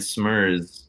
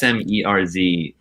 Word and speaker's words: Smerz: That band Smurs, I think that's how you pronounce the name. the Norwegian Is duo. there, like no vowels in it or some shit. I feel like No, it's SMERZ, but they yeah, I've seen that.